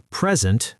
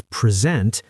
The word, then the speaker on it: present: For example, present, a gift, versus present, to give something.